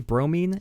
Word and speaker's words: bromine: Is that how it's pronounced? Bromine? Bromine? It's bromine. Bromine. Some people say it differently.